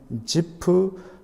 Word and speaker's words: 지프: 늘 봄으로 말았는데 저하게 히브리 식으로 발음하면 지프 쑤 프리 될 것입니다